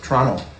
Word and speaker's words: Toronto: where were we born Toronto Toronto can don't pronounce the T some com guard is